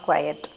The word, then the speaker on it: quiet: It's not quiet. You don't make the y prominent.